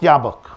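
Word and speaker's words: Jobbik: jabba it's it's written in jab book it's pronounced yabuk and the leader of that party is a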